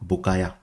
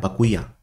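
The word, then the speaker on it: Bacuya: name of that Rhino buaya not buaya bakuya b a c u y a bakuya you pronounce it as bakuya not buaya bakuya so bakuya is the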